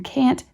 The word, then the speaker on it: can't: While the word can has the short A, it will be noticed that in can't, the A is pronounced like A in farm.